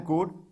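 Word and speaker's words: could: इसमें जहां पे एल लिखा हुआ है ये साइलेंट है, ये कुल्ड नहीं है। बहुत लड़का तो कुल्ड पढ़ते बेचारा नहीं आता, कुड है ना, विल, वुड है, एल साइलेंट है ना, एल को नहीं पढ़ना है यहाँ पे, देख लीजिए।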